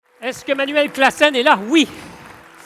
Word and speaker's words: Klaassen: Est-ce que Manuel Classen est là? Oui. Est-ce que j'ai bien prononcé votre nom ou pas? C'était super, bravo.